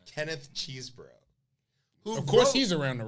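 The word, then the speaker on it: Chesebro: that is settled it's cheese bro not chess bro not cesborough not not it's cheese bro cheeseburger because that's his name there you go it's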